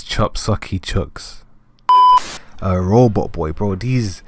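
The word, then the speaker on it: Chop Socky Chooks: You had Chucks Sakucky Chucks. So, I'm editing this video and I see that I completely butchered that name. It's Chop Saki Chucks.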